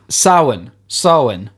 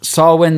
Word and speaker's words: Samhain: I don't know how to pronounce this, Rory. I'm going to be real with you. Samhain.